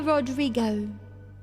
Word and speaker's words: Rodrigo: Olivia Rodrigo. Rodrigo? Is that how you pronounce it? Yeah, that's how you pronounce it. I think that's right.